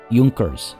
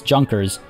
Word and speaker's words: Junkers: are scholar officials and in prussia i believe this is pronounced junkers i don't think it's i don't think it's junkers i imagine landowners in prussia are called junkers but feel free to correct me if i'm wrong there meanwhile intelligencia in